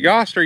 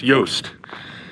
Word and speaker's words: Yoast: yoast lake is it yaster yoast in the video i called it yast but i found out later from my friend scott it's pronounced yost so i did the